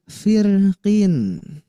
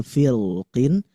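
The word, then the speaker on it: فِرْقٍ: Oke, karena surah Asy-Syu'ara ayat 63 ada lafaz firqin. Nah, ini sampai saya untuk memastikan ini benar sekalian saya mendengarkan beberapa murotal. Nah, ada yang memang membacanya tipis, ada memang yang membacanya tebal. Ada firqin, ada firqin.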